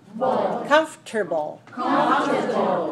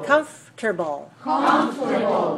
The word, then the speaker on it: comfortable: America how many syllables comfortable three syllables okay so when you look at the word when you look at the word it looks like four syllables but we don't pronounce all of them that way okay so